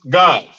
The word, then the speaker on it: Gad: It's pronounced Gad. Gad is pronounced God.